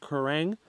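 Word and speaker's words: Quiraing: So right now we're in the Kerrang. That's how that's pronounced, Kerrang.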